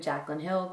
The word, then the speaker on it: Jaclyn Hill: It's called the Korres, and I've actually heard it pronounced Korres and Korres. However, my absolute favorite makeup guru slash artist on YouTube, Jaclyn Hill, called it Korres, not this in particular, but